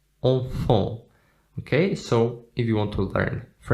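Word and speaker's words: enfants: Then we also have the letter T and the letter S at the end, which is not pronounced. Enfant, enfant.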